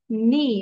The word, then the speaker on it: knee: সি, টি, ফিউ, জিউ, meet, grit, street, sweet, three, free, নি। এই জায়গাটা কে এর উচ্চারণ হবে না, নি হবে। ঠিক আছে, কে উড বি সাইলেন্ট।